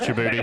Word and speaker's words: Djibouti: It is pronounced Djibouti.